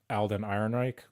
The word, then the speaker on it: Alden Ehrenreich: movie, if you were to have one, is Alden Ehrenreich.